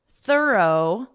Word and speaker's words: thorough: On hiccup, thorough, laugh, and through.